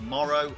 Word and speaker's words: Moro: So the GOAT's name is Moro or Moro. I don't fully know how to pronounce it yet, but it's spelled M-O-R-O. My Japanese pronunciation is quite frankly terrible, so I do apologise. I will call him Moro for now for all intensive purposes.